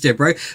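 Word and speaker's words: Devereaux: So Essie Cobb definitely reminds me of Blanch Deo. I keep saying her name wrong, but it is Dero.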